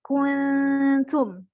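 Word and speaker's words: كنتم: Kemudian wadhkuru ni'matallahi 'alaikum id kuntum. Itu ikhfa, dibaca samar. Nun mati ketemu sama huruf ta. Itu ikhfa hakiki. Jadi dibacanya samar. Suara nun sukun seakan-akan bentar lagi nyampe ke suara ta. Gitu.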